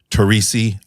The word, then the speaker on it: Torrisi: Captain welcome Dan wood and we have Brandy tesi I pronounced that correctly yes you did and you